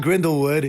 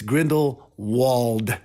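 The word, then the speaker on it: Grindelwald: there again Grindle would it's not Grendel would it's Grindle wold for you Harry Potter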